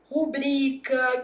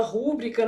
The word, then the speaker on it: rubrica: Por exemplo, rubrica, que o povo fala rúbrica, né? Ah, não existe rúbrica, não? Não, meu filho.